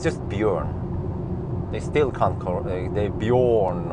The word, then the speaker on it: Bjørn: But still people can't pronounce Bjørn correctly. It's just Bjørn. They still can't, they Bjorn or Byron or some shit, or they can't type it correctly even.